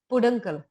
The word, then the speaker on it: peduncle: This is actually, the pronunciation is peduncle.